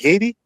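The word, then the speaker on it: Hayti: It's spelled like Haiti, but it's pronounced Haiti.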